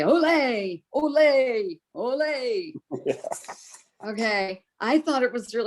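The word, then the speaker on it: olé: The accent is on the first part, not the second part, like Americans say.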